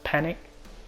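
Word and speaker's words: Panik: Panique has been a pain. I'm telling you, he literally. I'm like, if his name is pronounced Panic, but it sounds like panic.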